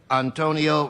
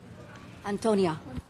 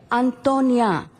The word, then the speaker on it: Antonia: Antonia. Antonia. In the female gender form in Spanish, with the ending with an A.